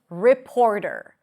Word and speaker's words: reporter: The first word is reporter.